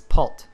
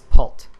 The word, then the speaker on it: porte: door equal and uh what door is in french is pult that's p-o-r-t-e um you don't really pronounce the e at the end uh so it's pult so door in french